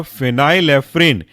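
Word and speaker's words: phenylephrine: एन ई नाफा जोलीन अगला example है आपका फिनाइल एफ्रीन स्पेलिंग है फिनाइल पी एच ई एन वाई एल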